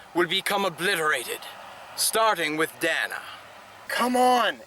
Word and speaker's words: Dana: Don't bother trying to get out, Dana. It's pronounced Dana.